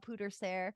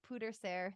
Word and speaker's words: pwdre ser: it's a Welsh word I wonder how you say it pooter Ser that's it it was like pewter more I think let